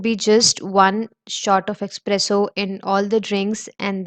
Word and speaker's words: espresso: So the first thing I'll be talking about is the pronunciation of it. It's not espresso, it's espresso.